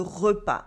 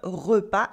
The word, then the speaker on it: repas: start Wilson general le repas le repas is the mire with silent s le repas le petit-déjeuner